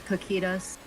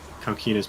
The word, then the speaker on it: Kokytos: Yeah, apparently my friend knows Greek and she says it's Kokytos. There's technically multiple ways to pronounce it. Out. I have heard Kokytos before.